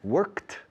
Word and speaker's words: work: Because many Spanish people pronounce it incorrectly. And it sounds like andar or caminar, to walk. Okay. The Americans and Canadians say work, work, work, work, work.